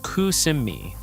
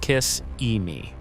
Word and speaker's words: Kissimmee: Number eight, Kissimmee, pronounced Kusimmee, not Kiss-E-Me.